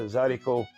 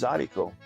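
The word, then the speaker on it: zydeco: that style of music became known as zaricot, but it was spelled phonetically, which is Z-Y-D-E-C-O. But the real way to spell it in French, it's plural. It's D-E-S, haricot, Harricot, des haricots. So that's where the zaricot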